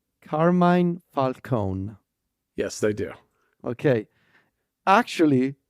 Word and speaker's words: Carmine Falcone: my guess is that in America they pronounce his name as Carmine Falcone yes they do okay actually this Italian name would be Carmin Falcone yes that makes sense